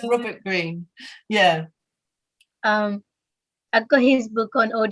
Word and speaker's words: Greene: it's called the robert greeney uh-huh i think that's how he pronounced his name yeah it is it's with green and there's an e at the end that's all right it's just green i'm not quite sure